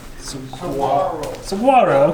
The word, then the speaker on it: Saguaro: one to Maverick saguru Saguaro how do you pronounce it like samaro Saro okay so yeah and you were right mommy